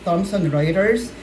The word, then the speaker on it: Thomson Reuters: So we pronounce it as Thomson Reuters.